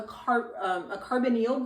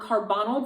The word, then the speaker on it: carbonyl: to an oxygen, and that's called a carbonyl group or a carbonyl group. I've heard it pronounced both ways.